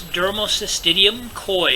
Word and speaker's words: Dermocystidium koi: I'm not sure if I'm going to pronounce this correctly, but it's Dermocystidium koi is what it's called.